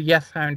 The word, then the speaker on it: Yeth Hound: And anyway, on Dartmoor, it's known as a Yeth Hound or a Whist Hound. I haven't got a speech impediment. That's the way it's pronounced and spelled.